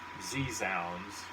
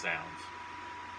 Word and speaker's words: Zounds: I ordered it from Zounds, which I thought was Z-Zounds, as we used to call it in the day, because it's the way it's spelled, but it's Zounds.